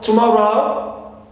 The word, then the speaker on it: tomorrow: And also tomorrow ends with third syllable, contains ow, right? Diphthong ow, and before it we find o, short vowel o. That's why more is stressed.